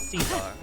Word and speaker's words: Caesar: Yep, Kaiser's pretty much how they pronounce Caesar.